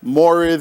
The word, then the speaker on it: mores: That you, they would say to kind of throw you off, because mores in sociology is spelled M-O-R-E-S, although it is pronounced M-O-R-A-Y-S.